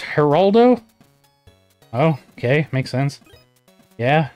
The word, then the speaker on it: Geraldo: And it's pronounced Geraldo? Oh, okay. Makes sense. Yeah, Geraldo.